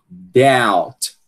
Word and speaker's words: doubt: E nesse caso aqui, a gente não vai pronunciar o b, né? Veja que na transição fonética ele não está presente, né? Então, a gente vai dizer o quê? Doubt, doubt, né?